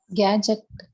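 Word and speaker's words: gadget: தான் யூஸ் பண்றோம் இல்லைங்களா கேட்ஜெட் எது சைலெண்ட்டா இருக்கும் டி கேட்ஜெட்னு படிச்சிடக்கூடாது கேட்ஜெட்னு கேட்ஜெட் டி வந்து சைலெண்ட் கேட்ஜெட் மீன்ஸ் கேட்ஜெட் வந்து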